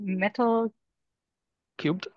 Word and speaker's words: Metal3: all um from how do how do you pronounce the name again metal cubed Cub sorry yeah so so Howers the the